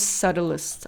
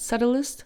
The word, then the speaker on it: subtle: Oh, that's the most subtlest. I like that. Subtlest.